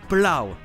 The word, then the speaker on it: plough: Mais vous le trouverez aussi dans le mot britannique plough, qui veut dire labourer ou déneiger.